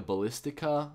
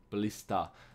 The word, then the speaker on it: ballista: ballister I I was I was saying the ballistica with a K but it doesn't have a k I'm just used to Call of Duty Black Ops but here we have the ballistic no ballista ballista hopefully I'm pronouncing it right but